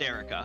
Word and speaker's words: Erica: Her name is 100% pronounced Erica. I went to the wiki.